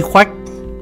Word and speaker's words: Khoách: vua trùng Quang Nguyên chữ Hán chính âm là khoách tiếng quan hỏa là khúc người nước ta quen đọc là khuếch hay màu trắng Mẫn